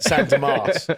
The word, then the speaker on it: San Demas: San Demas.